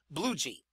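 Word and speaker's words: Bluege: his name is pronounced it is pronounced aie bluei sixth inning coming up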